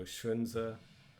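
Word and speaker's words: 荀子: Remember that X is a sh sound, so Shunzi.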